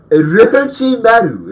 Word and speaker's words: Orochimaru: Next, we have Dio from JoJo's versus Orochimaru, which is the only way to pronounce his name. If you don't, Orochimaru.